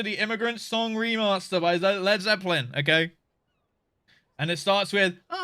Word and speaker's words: Led Zeppelin: Did I say Zed Leplin? No, I didn't. I said Led Zeppelin, right? Did I say it wrong?